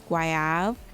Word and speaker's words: Goyave: So it is Goyave, which means guava in French. So we have Goyave. Next we have Blush Pink, Addicted, Beige Babe, Sweet Sin, and Petite Goyave. Now Petite Goyave, I must say, out